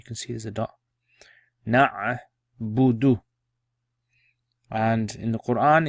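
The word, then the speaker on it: نعبد: Right, so pronounce it then. Na'budu, na'budu.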